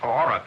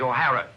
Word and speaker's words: O'Hara: do you remember saying my name is not aurora it is o'hara here mr o'hara yes